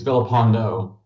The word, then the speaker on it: Vipondo: Vipondo. Vipondo, I apologize. What are you apolog Did I say your name wrong? Oh, you must not have heard me. I said it's Vipondo.